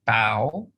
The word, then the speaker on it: bow: right in this sentence the word bow it rhymes with for example how how about so it's a rhyming is it yes it's the same rhyming sound okay okay and then